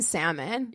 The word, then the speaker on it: salmon: just couldn't get over him pronouncing the l in salmon yeah she's like i can't i can't i don't think i could either it definitely would be like like that's not how it's pronounced it's chris's